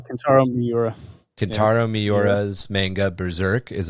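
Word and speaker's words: Kentaro Miura: Sandman also canaru Marky you might have to pronounce canaro Miura canaro mura canaro miura's manga berserk is another example of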